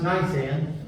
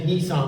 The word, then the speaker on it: Nisan: It's pronounced Nisan. I keep wanting to say Nissan like the car, but it's Nisan in 1399 BC.